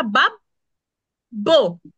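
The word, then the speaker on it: babbo: তাহলে হতো বাব রাইট এখানে দুইটা বি কিভাবে উচ্চারণ করব আমরা বাব বো বাব বো তারপর আরেকজন মাম মা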